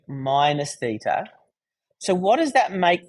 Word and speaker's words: theta: This angle here is pi on 2 minus theta. So what does that make the angle here? Starts with th and rhymes with beta.